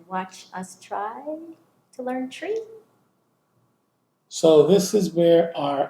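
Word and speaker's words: Twi: out there that tree which is spelled t w I is not pronounced twe so I find a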